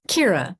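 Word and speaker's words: Ciara: Kira Dugen uh um her real name is spelled c i a r a uh Irish name um but she she began to spell it as it sounds because so many people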